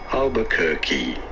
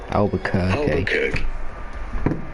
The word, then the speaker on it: Albuquerque: How do you go about pronouncing its name? Albuquerque. Albuquerque.